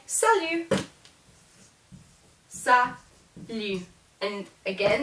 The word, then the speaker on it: salut: Then you can also say salut. Salut. And again, that T is not pronounced because it's not in careful.